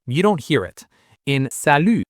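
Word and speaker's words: salut: In sal, the t is silent.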